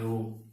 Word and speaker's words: rho: चलो यहीं पे लिख देता हूं कि ये जो रो है इसको इंग्लिश में RHO लिखते हैं, H साइलेंट होता है, हिंदी में इसको रो पढ़ते हैं, रो, ठीक है।